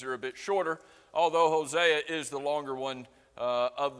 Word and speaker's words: Hosea: what do hosea or some would pronounce it hosea which is probably more correct but i think most of us say hosea what do hosea obadiah